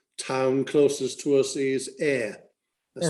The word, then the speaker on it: Ayr: But the main town closest to us is Ayr. That's spelled A-Y-R, and that's about.